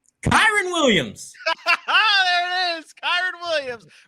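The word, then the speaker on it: Kyren Williams: How do you pronounce the name? Kyron Williams.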